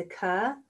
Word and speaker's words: occur: 2 syllables. Occurring and occurred, the root word is occur, occur, occur, occur.